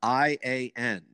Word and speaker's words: Ian: that I learned that the English name spelled i-a-n the English name spelled i-a-n and pronounced to us Ian was in fact A